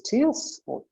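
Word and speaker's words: tierce: the next position is tears i try to remember to say it terse as in tertiary because these are wonders but it pronounces tears because it starts genetically all i do with that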